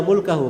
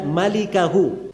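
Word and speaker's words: مالكه: Itu bukan bacanya illa mulkahu, memang mim lam kaf ha. Tapi bukan mulkahu bacanya. Bacanya illa malikahu cara bacanya.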